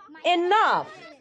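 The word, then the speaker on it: enough: তারপর এনাফ, এনাফ সবার শেষে GH রয়েছে, কিন্তু উচ্চারণটা কিন্তু ফ এর মতো হচ্ছে।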